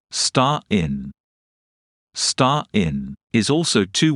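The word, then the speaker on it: Stein: the German word for stone is star in pronounced star in star in is also two words together IST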